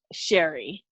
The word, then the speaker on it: Cherie: it correctly yeah so my name is pronounced Cheri okay yeah everyone calls me Sherri I will say everyone